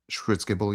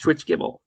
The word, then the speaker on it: Schwitzgebel: is I I don't know if I can pronounce his his last name properly, but it's like Eric Eric Schwitzgebel. Schwitzgebel, yeah. Eric Schwitzgebel. Schwitzgebel.